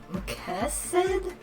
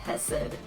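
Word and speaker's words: Chesed: in japanese katakana his name was written as quesad but apparently the actual pronunciation is closer to hessed so yeah um oh also we may have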